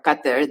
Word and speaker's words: Qatar: is where I grew up in or or Qatar that's the right way to pronounce that's it but yeah essentially I grew